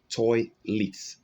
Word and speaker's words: toilet: Right here where you have letter E, the sound is E. Toilet. Toilet. Now for this word, there can be an alternative pronunciation. Sometimes here you may have the schwa sound. Okay, yes, that's the weak okay, but the word is also pronounced toilet. So right here you have E.